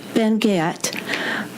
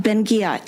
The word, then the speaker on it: Ben-Ghiat: Ruth Ben-Ghiat, Professor of History and Italian Studies at New York University, and Dr.